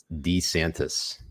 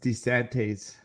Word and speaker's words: DeSantis: with Ron and honestly I didn't realize he pronounced it D santis did you hear that like I always thought it was it was desantes the the nuts Dez